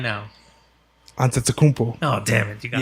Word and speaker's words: Giannis: Giannis Antetokounmpo.